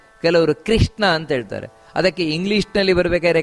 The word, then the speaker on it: ಕೃಷ್ಣ: ನೋಡಿ, ಕೃಷ್ಣ ಅಂತ ಹೇಳ್ತಾರೆ ಕೆಲವರು. ಕೃಷ್ಣ ಅಲ್ಲ, ಕೃ. ಕಾ ಕಿ ಕೃ ಅಂತ ಬರಬೇಕಲ್ಲಿ, ಹೊರತು ಕ್ರೀ ಅಲ್ಲ. ಕೆಲವರು ಕೃಷ್ಣ ಅಂತ ಹೇಳ್ತಾರೆ.